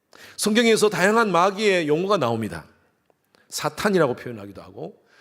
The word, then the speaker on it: 사탄: 사탄이라고 표현하기도 하고 사단이라고도 표현하기도 하고 마귀 또 귀신이라고도 표현을 합니다. 사탄과 사단은 발음상의 차이입니다. 같은 의미입니다. 정확한 음역은 사탄이 맞습니다.